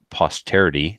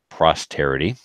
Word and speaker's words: posterity: It's pronounced posterity, not prosterity.